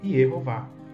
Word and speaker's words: Yehováh: caso, temos aqui o nome divino com o tetragrama e as vogais E, O e A, para se pronunciar em hebraico Yehová.